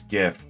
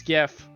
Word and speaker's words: GIF: To say that the Collective collective consensus is it's GIF. no. But they're trying to be nice and say Jiff because that's what he wanted, but I think he's just trolling.